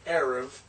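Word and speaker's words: ערב: morning and this is arev a SE SE and then bit without the dest therefore it's a v sound not a b sound and I wrote it as V arav is evening so you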